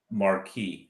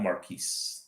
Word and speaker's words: Marquis: nine o'clock so that's Friday night Marquis not Marquis the S is silent yes yes that's it